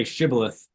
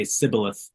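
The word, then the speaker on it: shibboleth: move, transport, whatever, and they'd have them say shibilith. They were unable to pronounce that, and they would say cibilith, and they would know that they couldn't pronounce the sh.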